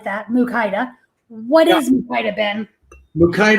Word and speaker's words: Mukaida: First of all, you say it like that, Mukaida.